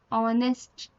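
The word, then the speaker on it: honest: सामने देखो ऑनेस्ट मैन, देखो ऑनेस्ट में एच आपका क्या होता है? साइलेंट होता है। ये क्या साउंड होता है? ऑ, ऑनेस्ट।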